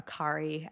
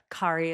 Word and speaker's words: Kari: kind of typical fashion, it's a Norwegian name. I apparently don't even pronounce it totally correctly as like a Norwegian person would. I don't know how to make the right sounds actually. Kari is about as close as I can get.